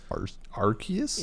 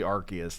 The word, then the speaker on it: Arceus: Pokemon Legends Arceus?